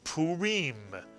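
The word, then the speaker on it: Purim: here's another Jewish holiday two vows to syllables good for you puim puim and puim comes from the word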